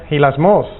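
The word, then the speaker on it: ἱλασμός: Hilasmos, acento en la O.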